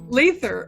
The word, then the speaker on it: Lather: Is that how I pronounce it? Lather. Lather. Okay, I should have asked beforehand.